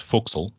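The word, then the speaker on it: forecastle: that's the boson whistle there are other nautical terms that do the weird pronunciation too like for castle being pronounced foxel but bosun's the one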